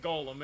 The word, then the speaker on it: GOL-M: Much to his surprise, ends up being pronounced like Golem anyway.